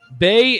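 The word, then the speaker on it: Baye: forward, Bay Ndongo from Denver, Colorado.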